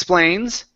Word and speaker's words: explains: is X Plains X explains explains there you go one more time he explains he explains H get that K to jump out so here you're saying s instead of explains it's X explains he explains he explains